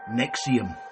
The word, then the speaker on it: NXIVM: at the company itself spelled NX i v m and pronounced Nexium the first thing I